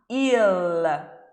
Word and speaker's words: il: Mas no italiano essa letra L tem que ser bem pronunciada, hein, ragazzi? Então a gente não vai pronunciar il, a gente vai pronunciar il. A ponta da língua vai lá no céu da boca.